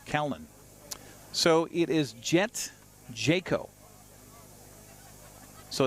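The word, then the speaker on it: Jacquot: the count to Cowan so it is jet Jayco so it's spelled j-a-c-q-u-o-t which French would be Jacob but no they're saying Jayco so there you go pronunciation on our picture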